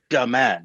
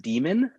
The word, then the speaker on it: Deman: have asked for because it's literally demand like it's dutch for the man it's and it's funny because everyone wants to kind of come up with a different pronunciation to avoid that yeah so i'll get